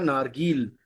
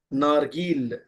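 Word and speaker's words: نارگیل: गुरबे के बाद है नेक्स्ट वर्ड, जहां आपको गाफ समझा रहे हैं हम, और आपको है नारगील। नारगील, ओके।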